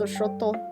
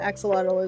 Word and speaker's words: axolotl: It's actually supposed to be pronounced Xochotl, but axolotl is just easier for people.